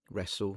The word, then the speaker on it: wrestle: wrestle And finally, hustle and bustle Yeah.